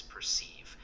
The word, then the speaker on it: perceive: The correct pronunciation is perceive with the emphasis on the second syllable.